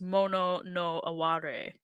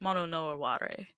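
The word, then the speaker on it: もののあわれ: the um kanja there that it says mon noare um which is how that would be pronounced is mono no aare so just so you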